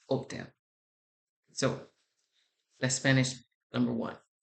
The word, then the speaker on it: hotel: I don't know if you know this, but the H in Spanish is silent. So when you're in the Spanish-sp speakaking country and you say hotel, it's hotel. It is not hotel, it is hotel.